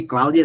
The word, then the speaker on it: Cloudia: Se escreve, a gente chama de Cláudia, na verdade, mas se escreve Cloudia, muita gente chama de Cloude.